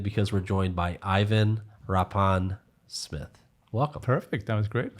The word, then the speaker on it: Rapin-Smith: i'm really excited because we're joined by ivan rappan smith welcome perfect that was great thank you that